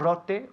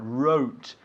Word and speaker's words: wrote: Not rote, but wrote. The W, of course, is silent, yeah?